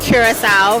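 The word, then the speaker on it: Curaçao: I am here with Andre from the beautiful island of Curacao. Remember that pronunciation.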